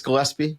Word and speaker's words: Gillespie: So, I'm hoping it's Gillespie, the common pronunciation, the hard G there.